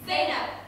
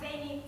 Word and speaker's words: Zainab: It's Zainab, not Zaini, Zainab, Zainab.